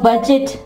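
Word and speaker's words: budget: और इसके अलावा बजट, बजट, ठीक है, बजट, यहां पे देखना डी जी ई आया लेकिन डी यहां पे साइलेंट होगा, बजट, ठीक है।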